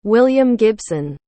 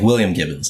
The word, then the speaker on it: William Gibson: William Gibson. Did I pronounce that correctly? Perfect, yeah. I always Gibson. mispronounce names. No, yeah, William Gibbons, that's how I would say.